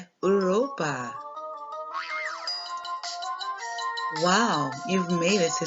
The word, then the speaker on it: Europa: And in Spanish, it's pronounced Europa.